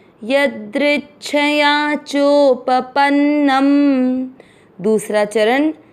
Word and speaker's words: यदृच्छया: य द्रि का अर्थ हुआ द आधा और नीचे री से ऋषि की मात्रा। द्रि के साथ आधा च दृच छ पूरा छया यदृच्छया।